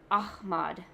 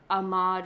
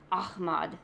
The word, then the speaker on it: Ahmad: pronounce their name, and they were saying about how it's Ahmad, not Ahmad or Ahmad. You know, it's Ahmad.